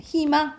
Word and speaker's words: 희망: 그럼 무조건 이로 발음이야. 희망 이렇게 발음해야 돼요.